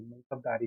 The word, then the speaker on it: मनसबदारी: मनसबदारी और sorry मनसबदारी system, pronunciation पे ध्यान रखना, ठीक है.